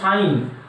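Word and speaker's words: sine: তাহলে লম্ব বা অতিভুজকে বলা হয় সাইন থিটা, উচ্চারণ করা হয় সাইন আর লেখা হয় এস আই এন, যদিও পুরো নাম হচ্ছে এস আই এন ই কিন্তু লেখা হয় এস আই এন থিটা।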